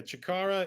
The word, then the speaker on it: chakara: is your Mandate of and I hope I pronounced it correctly studio chakara uh correct yeah chakara is a a term Ki which is Japanese